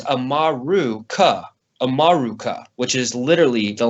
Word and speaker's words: Amaru: Um, but in reality, the name America is made up of a root word uh, amaru, amaru, depending on where you are, how you say it, it's uh, a m a ru.